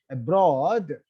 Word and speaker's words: abroad: If you look at the word abroad, here broad is a root word and is a prefix. So words with weak prefixes take the accent on the root word. Here broad is a prefix and broad is a root word. So you should the first syllable of the root word should be stressed.